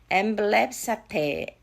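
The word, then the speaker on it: ἐμβλέψατε: 엠블랩사테 빨리 한번 해볼게요. 앰뷸런스 생각하면 될 것 같아.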